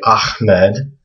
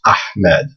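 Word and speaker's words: أحمد: it's not a So, when you hear people say ahmed, they're actually pronouncing it wrong. It's actually this letter that they're that they want to try to pronounce. It's ahmed.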